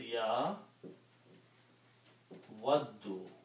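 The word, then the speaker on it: يَوَدُّ: And in order to pronounce these two dals with a shadda, we also make this as a fatha. So So this word becomes ya waddu.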